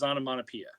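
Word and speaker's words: Onomatopoeia: pronounce this am I correct or no it's onamonapia it is onamonapia but it is my prediction it will be the most mispronounced character during breaks I don't know but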